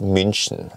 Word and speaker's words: München: So yes, it is BMW and it is München.